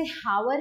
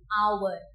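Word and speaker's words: hour: जैसे एग्जांपल में एन आवर, हम इसे हावर नहीं बोलते, हम इसे क्या बोलते हैं? एन आवर।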